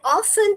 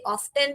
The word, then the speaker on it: often: आई ऑफन think that someone staring at मी। हमेशा इसे ऑफ्टन भी पढ़ सकते हैं बेटा, ऑफन भी पढ़ सकते हैं, दोनों प्रोनाउंसिएशन करेक्ट है बेटा।